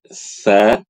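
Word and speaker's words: ث: Ini huruf tsa, dza d. Nah, di situ fokusnya adalah punggung lidah depan dan dua gigi seri atas. Ya, jadi ketika baca ujung lidah kita tuh keluar sedikit. Tsa tiu dza dzi kemudian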